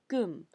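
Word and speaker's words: 금: Par exemple, l'or était prononcé jin en chinois, mais gum en coréen.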